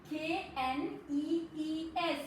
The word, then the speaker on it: knees: K sound is silent. We tell that K sound is silent.